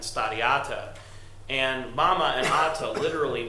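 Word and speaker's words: stari ata: From my anecdotal perspective, in Slovenian, grandma and grandpa are actually pronounced stada mama and stadiata, and mama and ata literally mean mother and father.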